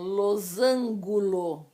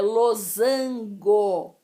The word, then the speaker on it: losango: desse daqui é pessoas que falam losângulo em nome de jesus é losango então outra forma de